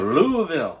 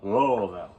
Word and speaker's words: Louisville: no no it's Louisville Kentucky that's right Kentucky Louisville Louisville Louisville got to say it right right but